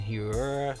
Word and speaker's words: Hiura: We'll go back here with the Brewers with Keston Hiura. That's how you pronounce it.